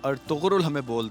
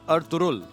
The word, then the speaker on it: Ertuğrul: अच्छा, ये मुझे अभी पता चला कि जो अर्तुगरुल हम बोलते हैं, इस की प्रोनाउंसिएशन है अर्तुरुल। जो जी है वो इसमें साइलेंट है।